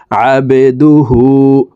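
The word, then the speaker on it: عَبْدُهُ: দাল পেশ দু, হা উল্টা পেশ হু, হার উপরে উল্টা পেশ আছে, তাই ঠোঁট গোল করে এই হাকে এক আলিফ টেনে পড়ব। আবেদুহু।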